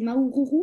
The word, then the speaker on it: Maoururu: » Alors, merci, je ne sais pas si je vais bien le prononcer, c'est Maoururu, c'est ça? On dit comme ça, ça se dit comme ça? Parfait.